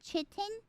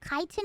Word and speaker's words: chitin: An exoskeleton made out of, wait, how do you pronounce that? Chitin?